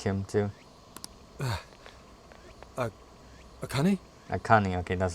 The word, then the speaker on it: Akane: Akane, okay, that's how you say it.